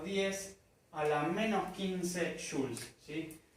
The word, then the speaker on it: joule: a la menos 15 Jules sí la unidad se dice Jules se escribe joule sí